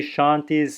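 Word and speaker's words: शान्तिः: see my mouth here it should be spoken at like this Shanti Shanti Shanti so you're hearing a clear voice argA echo of the preceding vowel on each of the three shanti shanti shanti shanti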